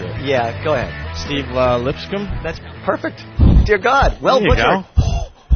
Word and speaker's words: Lipscomb: Steve Lipscomb? That's perfect. Dear God. Well there you butchered.